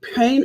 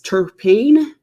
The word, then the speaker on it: terpene: kessia will talk about the term pain is how you say it's terpene terpene yeah turkey penis yeah therapeutic